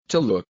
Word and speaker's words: Tulou: Tulou. Tulou. Okay. A little softer on the U, right? Tulou. There's the direct English one that's like not Tulou.